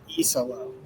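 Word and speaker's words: Iisalo: Tomas iso. E is in the letter. Yes. Well, and and the thing about it is those two eyes right at the start really kind of throw you.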